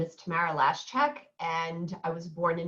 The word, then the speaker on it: Lashchyk: Yes, it's Lashchyk. My ex-husband used to say, like the last check in your checkbook.